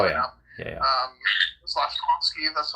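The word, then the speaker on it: Slafkovský: Slavkovsky, that's how you pronounce his name.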